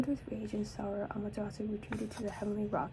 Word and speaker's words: Amaterasu: Basically, it's Amaterasu How do you pronounce this? Amaterasu the Japanese goddess.